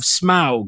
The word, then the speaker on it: Smaug: Now this one is called the Desolation of Smaug.